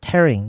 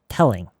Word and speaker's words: telling: 할 때 L가 조금 더 L 발음이 났으면 좋겠어요. 이게 r 발음이 나는 것보다 tering not tering telling telling 쟤네가 어른답게 수습하지 못하면 빼고 가는 거지.